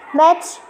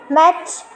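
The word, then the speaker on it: match: मैच, मैच, समझ रहे हो, मैच। टी के बाद सी जब भी आता है ना, टी को सुनते ही नहीं है, सीधे च कर देते हैं उसको, मैच।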